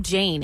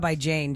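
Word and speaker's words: Jain: that I did yes her name is I believe Jane it's j-a-i-n so I'm assuming that's how you pronounce it okay yes it's m-a-k-e-b-a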